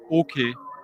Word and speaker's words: Åke: In Swedish, this letter with the little round circle over the A is pronounced O. Åke Hodell.